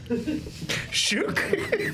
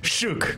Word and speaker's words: Shook: Shook. It rhymes with Luke. So, Shook.